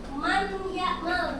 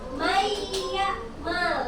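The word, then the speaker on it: مَنْ يَعْمَلْ: Jadi bukan man ya mal, bukan. Karena ini idgham dimasukkan, jadi cara bacanya may ya mal, langsung dimasukkan seperti itu.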